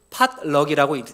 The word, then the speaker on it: potluck: 그러니까 그러니까 영어를 쓰는 미국 사람들은 이것을 팟럭이라고 읽습니다. 팔락. 예, 팔락이라고 해요. 팔락.